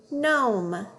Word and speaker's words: gnome: So when there's an N after the G, that G is silent. All we hear is the N sound. Let's read them. Gnat, gnaw, gnome.